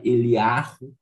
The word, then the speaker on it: Eliahu: Por que que a gente não pronuncia Eliarro e a gente pronuncia Elial? É porque é o seguinte, no hebraico moderno, eles não pronunciam a letra re. Então, não pronuncia a letra re. Então, fica Elial em vez de Eliarro.